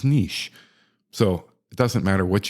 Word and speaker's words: niche: notice I didn't say Niche or Niche however you choose it's a French word the proper pronunciation I have learned is Niche so it doesn't matter